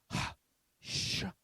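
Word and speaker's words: הַשָּׁמַיִם: Okay, so this is going to be pronounced something like this. Ha-sh-ma-yim. Ha-sh-ma-yim. Okay? Altogether, it would be ha-sh-ma-yim.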